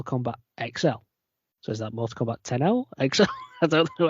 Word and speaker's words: Mortal Kombat X: was Mortal Kombat X that's all Mortal Kombat 10. it's always supposed to be I'd say 10.6 Roman numeral into it sir yeah but it was